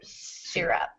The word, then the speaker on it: syrup: cough syrup yeah so the why the why gets a short I sound in this word syrup you almost don't hear it because of the R